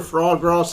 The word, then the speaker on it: foie gras: All them times we've been in bloody McDonald's and Foie KFC, and that's for a foie gras sandwich.